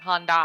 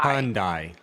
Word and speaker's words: Hyundai: Well, I always call the brand wrong, because you make it sound like I'm saying Honda, and I'm not. I'm saying Hyundai. Hyundai. It's Hyundai.